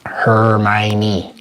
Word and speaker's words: Hermione: Hermione. Her tiny little Miney. And that's how you know how to spell it, because you just break it down just like that.